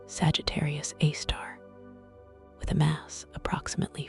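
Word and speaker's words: Sagittarius A*: A supermassive black hole known as Sagittarius A, pronounced Sagittarius A star.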